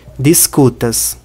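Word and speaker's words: diskutas: Discutas. Se a sílaba tônica fosse no dis, a pronúncia seria discutas. Se fosse no a, seria discutas. Mas não é nem discutas, nem discutas. É discutas.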